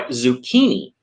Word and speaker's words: zucchini: If it comes from Italian, it's also pronounced with a k. So that's why zucchini, right, is pronounced with a k sound, right?